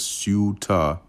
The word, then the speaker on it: Ceuta: Um Okay, it says this is pronounced as Ceuta in English and Theuta or Seuta in Latin.